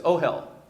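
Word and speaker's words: אהל: I know it sounds like I'm cursing or something, right? But it's ohel. Ohel. And that is a word for tent. And that is, let's sound that out. The Aleph is actually sounding like an O here. O. And then what's that next letter? It's a Hey, which sounds like an H.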